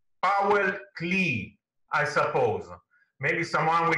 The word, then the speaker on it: Paul Klee: artist, whose name is, I suppose in German, the right pronunciation is Paul Klee, I suppose. Maybe someone will correct me if I'm wrong. So it's Paul Klee.